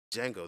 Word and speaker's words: Django: we're listening to now django the movie has come out what's django telling how about spelling his name oh the d is silent i'm like oh you're